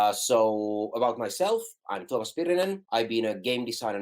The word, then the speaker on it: Tuomas Pirinen: So today we actually have a unique guest, one of the creators of Mordheim, Tuomas Pirinen. I'm sorry, did I pronounce that right?